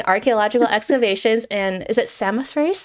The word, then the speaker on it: Samothrace: Julianne has also participated, this is so cool, in archaeological excavations in, is it Samothrace? How do you pronounce this?